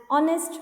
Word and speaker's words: honest: an honorable person an honest boy here h is silent the indefinite article and